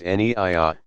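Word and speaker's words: niyya: the clearly stated intention Naiya pronounced anyiah saying I intend to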